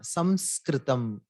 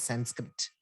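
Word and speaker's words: संस्कृतम्: So Samskrita, Samskritam, in English it became Sanskrit. So there's no such thing as Sanskrit. So it is Samskritam.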